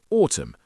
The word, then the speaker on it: autumn: For example, the N in autumn.